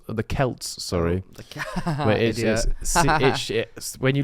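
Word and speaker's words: Celts: evil spirits walking the Earth during swin the selts the Kelts sorry the it when you look at the way kelt is spelled it should be spell it should be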